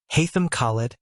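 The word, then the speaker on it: Haitham Khaled: said please be seated state your name and spell it and draw the microphone close to you the witness said haam khid H AI t h k h a l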